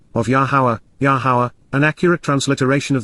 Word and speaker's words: Yahowah: honorable and exalted dwelling place to approach La yahwah yahwah the proper pronunciation of the name of our eloa God